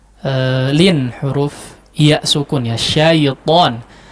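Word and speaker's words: شيطان: huruf iya sukun ya, syaiton. Huruf lin itu dibacanya mudah ya, jangan ada iya hidup di situ, cuma nempel saja ya. Syaiton, jangan jadi syayi ya, syayi atau terkesan yi ya.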